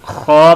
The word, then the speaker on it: خا: اس کو خوا پڑھیں گے. اور ہا اور خوا ان دونوں میں فرق ہوگا. ہا الگ لفظ ہے اور خوا الگ ہے. خوا کو تھوڑا سا موٹا پڑھتے ہیں.